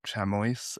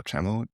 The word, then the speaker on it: chamois: about it deep down there there was a chammo a Full one with long horns. Chammo. Yeah. Chamo. Chamo. Yeah. Spell it.